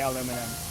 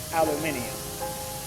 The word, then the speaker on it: aluminium: way we Americans say aluminum. They say aluminium. And I mean entertaining in a good way. Aluminium is fun to say.